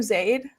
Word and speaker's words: Zaid: Do I pronounce your name Zaid? Is that how you pronounce it? It's or, so it's whatever. It's whatever's easiest.